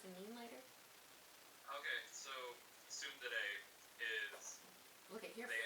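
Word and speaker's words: ツンデレ: She's a Sunder or whatever, where she's like, Yeah, let's talk about Me. Just made Thunder. Sundare. Tsundere. Tsundere. Let's talk about Hey, Google pronounced it that way for me. Tsundere and yandere.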